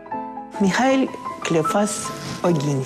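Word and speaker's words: Michał Kleofas Ogiński: Михал Клеофас Огинский. Михал Клеофас Огинский. Как это звучит по- польски.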